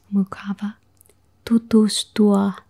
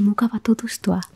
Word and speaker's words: mukava tutustua: Hey, mukava tutustua. So if you say it like in normal speed, it would be hey, mukava tutustua. That's the normal speed.